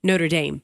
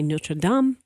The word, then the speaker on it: Notre Dame: story or you know I'm going to say notre-dame yeah because that's how I see it cuz I covered football for so long yeah and we live here right but then I heard everybody start to say no to dumb so that's how I've been saying it but I think you're okay either way all right well I'm